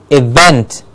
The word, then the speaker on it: event: V E and T event is not an even it's not even it's a vent the vent gets a clear stress event we have an event